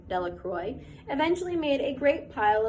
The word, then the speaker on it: Delacroix: Bobby and Harry Jones and Dickie Delacroix, the villagers pronounced the name Delacroix, eventually made a great